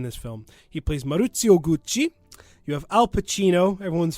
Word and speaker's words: Gucci: And I hope you realize that I will not in any way be saying Gucci. I will be saying Gucci.